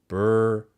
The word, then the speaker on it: Berlinguer: Someone's correcting my pronunciation in the chat. Berlinguer.